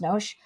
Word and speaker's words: NOS: We would say NOS, but here it's pronounced NOS.